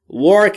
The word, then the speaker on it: work: دوستان در مورد تلفظ work دقت بکنید. زمانی که میخواید W رو تلفظ بکنید کلن این قاعده همه جای انگلیسی برقراره. زمانی که میخواید W رو تلفظ کنید لبهاتون حالت بوسه به خودش میگیره یا لولهی میشه، هوا خارج میشه، میشه work.